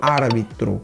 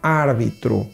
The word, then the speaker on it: árbitro: árbitro o juiz então vamos fazer a pronúncia espanhol árbitro árbitro do outro lado o